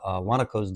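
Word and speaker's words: guanaco: call them llamas, but they're actually called wanakos down there. Um believe that's how you say it. Uh it's spelled with a g guan a c o.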